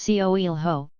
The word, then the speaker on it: Coelho: Remember, it's Coelho, with the O well pronounced.